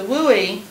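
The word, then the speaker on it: WUE: an a affordable option but for the wooi that's how you pronounce it sounds kind of funny but for the wooi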